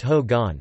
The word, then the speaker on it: hogan: Architecturally, the guest house is in the Hogan, pronounced Ho-gon, Navajo for home, style.